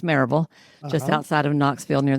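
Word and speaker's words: Maryville: I so I've been coaching I I ran I started grew and ran a group practice in Mville Tennessee which we pronounce Maraveville just outside of Knoxville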